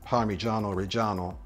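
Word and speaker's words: Parmigiano Reggiano: it is correctly pronounced parano reano with a hard G it's not parano or parmesan there is no J sound in Italian the sound is more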